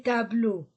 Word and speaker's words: tableaux: X au pluriel les tableaux on ne lit pas on ne prononce pas le X la chaise chaise féminin